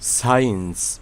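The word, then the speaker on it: science: সাইন্স সাইন্স অর্থ বিজ্ঞান।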